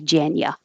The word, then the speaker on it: January: and these are important you can say gen You Weary like you but that's very correct and because the U is not stressed it's more likely that native speakers aren't going to say January they're going to be more relaxed and say janya January and I put where